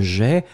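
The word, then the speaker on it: aie: mettre au subjonctif présent que j'ai, A-I-E. On ne prononce pas le E, il doit être écrit.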